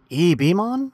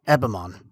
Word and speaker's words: Ebemon: And now that I think about it, is it pronounced Ebemon, like E.T., or is it Ebemon? Eb makes sense, but I'm gonna rock Ebemon.